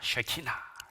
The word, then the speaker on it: 쉐키나: 말씀입니다 이걸 키나라 합니다 쉐키나 예 발음 잘하셔야 됩니다 쉐키나 해야지 야 하면 큰일납니다 쉐키나 제가 최근에 특별히 좋아하는